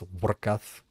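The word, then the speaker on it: Vorkath: Um, Warc. That's actually how you pronounce it. It's Warcath. He's a German dragon.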